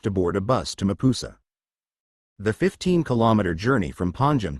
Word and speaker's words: Mapusa: board a bus to Mapusa. The 15-kilometer journey from Panjim to Mapusa, pronounced as Mupsa, wound through lush, leafy